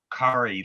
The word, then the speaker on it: Kaare: randolph yeah i know both of you guys have kari like atari you mentioned how it rhymes uh on on your